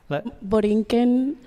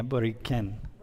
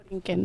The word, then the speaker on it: Borinquen: It's spelled a couple different ways, right? Borinquen, it can be with a K instead of the Q and the U. Yeah, Boriquen. Borinquen.